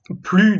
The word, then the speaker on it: plus: Если есть, s'il y a, если есть, plus de, s не читается, больше, de, deux étapes,